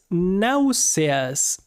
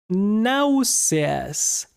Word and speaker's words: náuseas: The second one is náuseas, which means nausea. Náuseas. So yeah, it's kind of like the same word, but we pronounce every letter and the letter S.